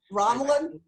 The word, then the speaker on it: Romulan: teaming with writer-director Zincree to play a dead Romulan. Now, did I pronounce Romulan correctly, or is there another way? Romulan?